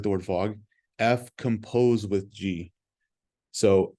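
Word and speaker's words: f∘g: but we don't say F Circle G it's or fog it looks like the word fog F composed with g so F composed with g is how you pronounce this so the composition of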